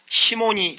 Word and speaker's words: 시몬: 그래서 성직 매매를 시몬이 한 일이다 해서 시몬, 영어식 발음으로 사이몬이라고 그렇게 말을 합니다.